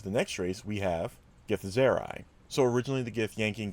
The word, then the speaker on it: Githzerai: I think it's Githzerai is the proper way to pronounce it.